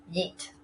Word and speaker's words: yeet: yes and neat so they took the sound in yes and the eat sounds in neat and created the pronunciation eat now two things that